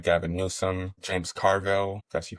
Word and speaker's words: Carville: so-called liberals specifically people like Gavin Newsome James Carville, that's how you pronounce his name, and others who were seemingly